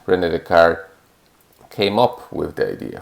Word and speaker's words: Descartes: name is spelled d-e-s-c-a-r-t-e-s the car and this last part of his name is what gives the name to the coordinate system um because the his name is the card we call it the